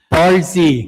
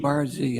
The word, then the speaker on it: Barzee: Brazier, I'm struggling with Barz. Barzee. I'm sorry. That's okay. Pronounces my name correctly.